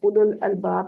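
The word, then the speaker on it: أولو الألباب: उलुल अलबाब लफ्ज आता है कुरान पाक में, तो उसमें भी वाव साइलेंट होती है।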